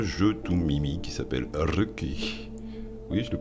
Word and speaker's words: Röki: Bon, c'est pas grave, ça se prononce comment ça? Ruki.